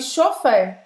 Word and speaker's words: chauffeur: Então, nesse final você vai fazer a boca do O e vai falar E.